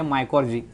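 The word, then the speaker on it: mycorrhizae: है स्पेलिंग अलग है, इसका उच्चार यहाँ पर जो है प्रोनाउंसिएशन आपको याद रखना होगा, ये है माइकोर्जी। सो माइको मीन्स होता है रूट, माइको मीन्स होता है यहाँ पर फंगल।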